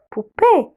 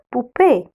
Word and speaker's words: poupée: C'est verbe être et verbe être une poupée. C'est une poupée. Une, c'est pour les mots féminins singuliers. Féminin singulier. Alors, c'est une article indéfini, c'est une poupée. Le O avec le U, on le prononce OU.